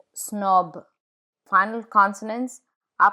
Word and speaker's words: snob: The final consonant is pronounced in words borrowed from other languages, like le weekend, snob.